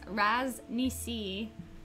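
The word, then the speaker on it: Ras Nsi: it's something right here according to the Toa book which has a pronunciation guide in the front it's pronounced razz me see amazing thank you salvage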